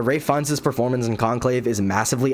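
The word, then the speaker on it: Ralph Fiennes: in my last video I pronounced his name Ralph fins sorry about that but Ray Fin's performance in conclave is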